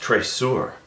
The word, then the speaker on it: traceur: track eure he says he spells it out t r a c e uur it's French I think it's pronounced traceur I say he ignores